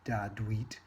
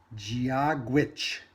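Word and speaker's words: Dia duit: It says it's not Dadweet, it's Giagwitch, or hello from Ireland. So apparently, in the language of Ireland, the way you say hello is Giagwitch.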